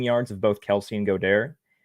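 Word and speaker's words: Goedert: of both Kelsey and godare I call them go there because it's French uh but uh I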